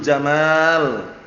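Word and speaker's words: جمال: "Innallaha jamilun yuhibbul jamal." Ingat-ingat ya, jangan keliru bacanya ya. Ini tak ulang-ulang karena biasanya kalau orang belum terbiasa bacanya innallaha jamilun yuhibbul jamal, itu pendek. Namanya padahal pendek artinya lain nanti ya.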